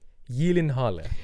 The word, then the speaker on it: Gyllenhaal: say it and apparently the correct the correct pronunciation is Jake Yen Halla Yen Yen Halla yeah that's how that's how